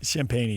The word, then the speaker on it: Champagnie: So, uh How do you say his last name? I think it's Champagnie. Champagnie, yes. Thank you.